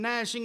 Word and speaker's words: gnashing: be the weeping and gnashing of teeth. Gnashing is spelled G-N-A-S-H, but it sounds just like N-A-S-H.